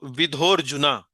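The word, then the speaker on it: विधोऽर्जुन: इसका उच्चारण में कोई योगदान नहीं है। इसको हम बिल्कुल भूल जाते हैं उच्चारण करते समय। तो विधोर जुना इसको ध्यान में नहीं रखिए। जैसे मानिए कि यह अस्तित्व में नहीं है। यह यहां है नहीं। लेकिन इसको बोलेंगे विधोर्जुना। अहम एवं विधोर्जुना।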